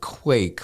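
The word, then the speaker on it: QIEK: help me understand what you call it Quake but it's spelled Qi e k right so break that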